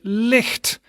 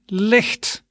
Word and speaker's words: licht: talk about that something is light we say licht repeat after me licht okay good and then the last one that